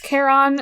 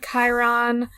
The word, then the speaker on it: Chiron: have uh yeah so his name is Kon not Chiron that's Mr Kon to you